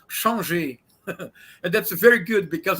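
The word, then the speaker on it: Changez: His name is, if you pronounce as if he were a Frenchman, is Changé.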